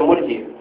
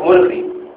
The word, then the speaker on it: murji: who worships Allah with hope alone, he is the murji, not murghi.